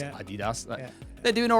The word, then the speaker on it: Adidas: Look at all these companies that are always pronounced a lot wrong. Nike, Nike, or people say Adidas. It's Adidas.